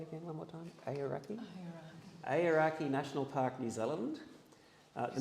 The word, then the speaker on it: Aoraki: Aoraki National Park, New Zealand.